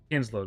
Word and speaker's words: Kinslood: Kinsload, which is spelled Kinslood.